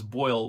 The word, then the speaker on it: boil: an avid youtuber and pay attention to how robert pronounces boyle with a long oh that is pretty much the same as the long oval when he says rollin blow and lower okay you got a